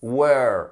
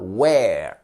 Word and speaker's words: were: nous intéresse c'est au passé attention à la prononciation vous l'avez was were et non pas where attention where c'est où dans le sens où